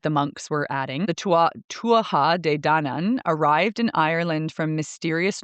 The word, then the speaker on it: Tuatha Dé Danann: And now I looked at the Celtic lore and the Tuatha, excuse me, that's the pronunciation. Tuatha De Danann is how you say it, are a supernatural people.